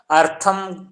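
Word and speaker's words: अर्थम्: हाँ, अर्थ के साथ माँ का भी उच्चारण कीजिए हल्का सा। अर्थम, अर्थम का थोड़ा सा हल्का सा।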